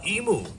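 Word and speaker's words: imu: Uh, emu. Emu is spelled I mu, meaning cooking pit or underground oven.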